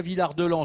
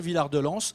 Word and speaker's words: Villard-de-Lans: Ici, il n'y en a pas, et en posant la question, en fait, on dit soit Villard-de-Lans, soit Villard-de-Lans. Ça dépend des familles, ça dépend d'où on vient, donc on dit ce qu'on veut, en fait.